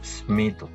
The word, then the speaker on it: স্মিত: স্মিত, এখানে দন্ত স্বরের সাথে মটা ছিল, সেই মটা উচ্চারিত হয়েছে স্মিত ইত্যাদি।